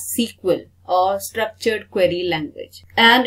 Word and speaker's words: SQL: where we use sql i use sql but it is pronounced as sequel or structured query language